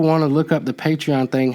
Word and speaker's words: Patreon: Is it patron or patron? it's spelled Patreon, Patreon, but it means patron.